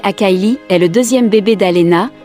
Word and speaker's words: Akili: Akili, prononcé Akaili, est le deuxième bébé d'Alena, mais le premier enfant avec un deuxième homme, nommé Tom, d'origine blanche.